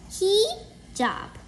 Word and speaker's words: hijab: Hijab. It's pronounced like he-jab.